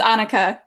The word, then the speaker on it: Annika: How do I pronounce your name? Is it Annika, It's Anika? Annika.